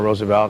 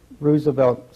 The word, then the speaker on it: Roosevelt: the series of bedrooms were he and Eleanor Roosevelt and his mother lived over the number of